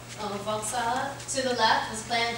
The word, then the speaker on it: Volkshalle: Vauxhall. Oh, Volkshalle.